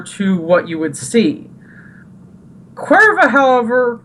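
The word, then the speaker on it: Caoimhe: Yeah, it's pronounced Cuerva. And I'm like... Like the beer. Yeah. In Mexico. But not exactly. And the spelling is like Ciomhe. And that's it's just pronounced like, Cuerva?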